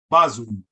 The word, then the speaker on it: bazun: Now, why is the first syllable pronounced ba? Because the letter B is hard, and a hard A is pronounced a as an opposite, not a as an apple. So that would be ba-zun, bazun.